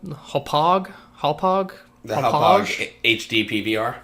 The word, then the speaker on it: Hauppauge: So I ordered the PVR, DVR, whatever it's called, Hauppauge. The Hauppauge HD PVR. Hauppauge rhymes with fromage.